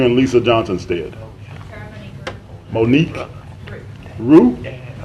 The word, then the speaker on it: Roux: Monique Rue? How do you spell that? R-O-U-X. R-O-U-X. Just like the, can you make a roux?